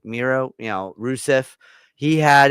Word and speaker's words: Miro: I said it before, that title has felt flat since freaking Mero had I I said it right. Right. Miro, you know, Rusev, he had it.